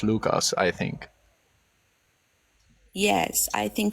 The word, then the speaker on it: Lucas: pronounce it like Lucas, right? We say Lucas. Mm, different emphasis.